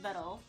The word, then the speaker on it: Videl: Videl, pronounced Vedel.